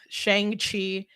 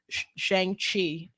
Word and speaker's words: Shang-Chi: And like, you're not saying it right. That's how Jim Starlin, the creator of the person who created it, said Shang-Chi. I could pull up an interview with them and he'll say Shang-Chi.